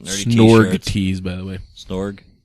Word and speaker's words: Snorg: Snorg. Did I say it wrong? He said snog, which means making out in British slang. Okay. Yeah, I missed the R.